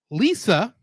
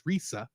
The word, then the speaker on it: Lisa: So Lisa, yes, her name is Lisa, although in Japan it would have probably been pronounced more as Risa.